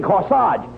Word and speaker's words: corsage: You mean corsage. AGE is pronounced Arge, as in corsage and garage.